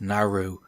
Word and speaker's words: Naaru: ing the burning Legion the name is pronounced Naru the plural is simply Naru so I've been pronouncing it wrong all this time Naru history when saris